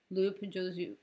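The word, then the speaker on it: loupe: is grid view and this is loop view.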